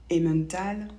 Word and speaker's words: Emmental: Par exemple, le mot femme ou Emmental ou le prénom Emmanuel encore, on ne prononce pas en, donc pas toujours.